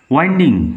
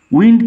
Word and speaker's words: winding: Down ওয়াইন্ডিং paths and এলিজ, ওয়াইন্ডিং, ঘুরানো, পেঁচানো, এই অর্থে। ওয়াইন্ডিং পাথস অ্যান্ড এলিজ, আঁকা বাঁকা অলিগলি, ঘোরানো পেঁচানো অলিগলি পথ বেয়ে। উইন্ড থেকে আসছে ওয়াইন্ডিং, কথাটা উইন্ডিং হবে না, নট উইন্ডিং, উচ্চারণ হবে ওয়াইন্ডিং।